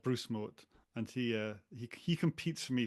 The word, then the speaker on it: Mouat: I was actually going to ask you at the end, how you pronounce your surname. I say Moat.